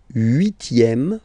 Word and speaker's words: huitième: Le huitième, remember H doesn't exist.